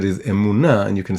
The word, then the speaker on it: emunah: like I said, is emunah, and you can spell it emunah. So it has the word moon inside the word emunah, the word faith.